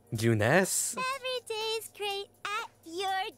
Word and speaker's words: Junes: great at your J juness every is great at your J bless it's I thought it was pronounced Junes but no it's Junes you can save the